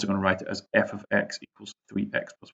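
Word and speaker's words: f(x): Right, it's pronounced, and you don't say f bracket x bracket equals 3x plus 1. It means f of x.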